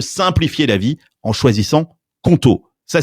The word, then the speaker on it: Qonto: Les équipes de Conto sont disponibles 7 jours sur 7 et tu